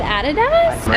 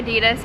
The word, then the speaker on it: Adidas: You said Adidas? Americans say Adidas, Australians say Adidas.